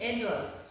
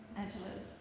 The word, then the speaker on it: Angeles: But yeah, so it's Angeles. Angeles. Yeah. Just like Los Angeles. The way the Americans say it. Angeles.